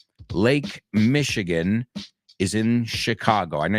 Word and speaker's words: Michigan: Lake Michigan is in Chicago. I know you say Michigan and Chicago, but remember, in English, both of those are shh, shh.